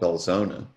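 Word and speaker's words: Belzoni: voters in humphreys county is a place called belzona and that's the way the locals pronounce it and so while he was driving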